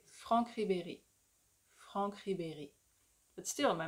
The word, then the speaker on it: Ribéry: You see how the when I pronounce the I and the E, my mouth like stays in the same shape, kind of? Ribéry. Ribéry. I'm like smiling the whole way.